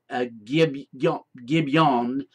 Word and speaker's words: Gibeon: Now the city where Gibeon, or this would be pronounced Gibeon, meaning a hill city.